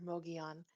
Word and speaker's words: Mogollon: Mog on and um I mispronounced it through the whole thing, but we